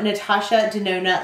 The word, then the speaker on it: Natasha Denona: get started okay so this is the new natasha de Nona Lila palette my friend Trish show from a